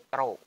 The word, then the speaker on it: rho: Massa jenis ini membacanya rho. Ya, ini bukan P tapi rho.